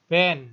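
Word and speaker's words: בֵּן: Nah, ini bacanya ben ya. Jadi ini dages lene ya. Tidak mungkin pendua kalian, B B E N tidak mungkin ya. Jadi cukup ben saja.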